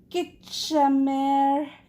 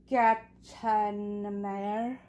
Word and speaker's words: Schachenmayr: Okay, so I was saying the skin tone is my absolute favorite, which is Skitchamer Catania Solids. I know I said it wrong, and I apologize.